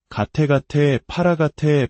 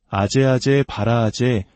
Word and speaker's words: 아제아제 바라아제: 가테가테 파라가테 파라삼가테 보디 스바하. 한국에서는 이를 소리나는 대로 아제아제 바라아제 바라승아제 모지 사바하라고 읽습니다.